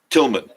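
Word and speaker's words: Tilghman: he performed there too the gh is silent so it's tillman correct mississippi or tillman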